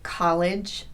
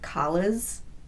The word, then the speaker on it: college: When you try to say a word like college, does it come out sounding like collas?